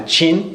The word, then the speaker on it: Qin: the state of Qin I think it's pronounced chin in English it's spelled Qi n